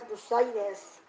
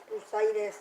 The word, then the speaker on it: bursitis: think that Michelle has bursitis no it's bursitis that's how you pronounce it I don't know why